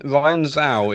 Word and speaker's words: Zhao: It's like Chow, I think, isn't it? James, I don't know why am I interrupting? James, this is your field. What? James, Hey, James didn't even know what's going on. Oh, just laughing. Sorry. How do you pronounce Ryan's surname, please? I believe it is Chinese in origin. It's Ryan Zhao. It is Chow.